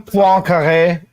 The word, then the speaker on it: Poincaré: Can we call him Poincaré? Because that is how you pronounce that.